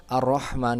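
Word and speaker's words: الرحمن: ha Bismillahirrohmanirrohim Semuanya sama Padahal ar-rahman dan ar-rahim itu menggunakan huruf H ya tenggorokan Tengah jadi ketika membacanya Bismillahirrohmanirrohim Nah harus diperhatikan di Hai itu jadi Hai yang ada di ar-rahman dan ar-rahim itu hanya hak halus gitu Bismillahirrohmanirrohim seperti itu perbaikan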